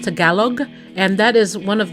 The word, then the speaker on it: Tagalog: A lot of people say Tagalog, or there's the cocoa, you add the cocoa, but it's actually pronounced Tagalog, and that is one of the main lead dialects that are spoken.